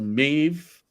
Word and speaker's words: Maeve: AI generated person there, Maeve. Rhymes with Dave.